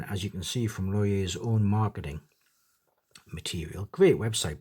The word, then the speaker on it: Lorier: Welcome to the Falcon from New York-based micro brand Loyer. That's how it's pronounced.